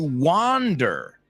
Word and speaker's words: wander: It's like saying Juan without the h. Wander.